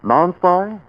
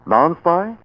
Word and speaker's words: Nonspi: Stark, how do you pronounce N-O-N-S-P-I? Non-spy?